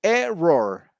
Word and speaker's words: error: you say error but in english you say error the the the emphasis is of the the word stress is on the on the first letter that is the syllable all right a roar